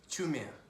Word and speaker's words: Chiumia: Chumia. Chumia. It's a silent I. Ah. Chumia. It's a CHIUMIA, but you don't pronounce the I.